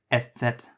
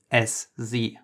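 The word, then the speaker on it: Eszett: The name of this letter is SZ, so SZ.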